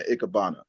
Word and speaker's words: Ikebana: But I do love the transition, like in particular that RFID instant transfer, which was a great transition right into Ikebana. Mm. And I'm pronouncing that right?